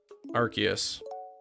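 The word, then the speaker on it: Arceus: English changed it yeah the official English way is is archus got to buy them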